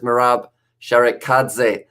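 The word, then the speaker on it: Merab Sharikadze: is the captain and his name is marab sharik khadzeh is the way that it is pronounced and yeah he is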